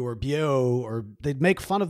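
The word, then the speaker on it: Beaux: most of the videos my name is Bo it's not spelled Bo it's spelled b auau because of the Cajun influence of my name and I remember growing up most kids couldn't spell my name like everybody would always call me beu or Boo or they'd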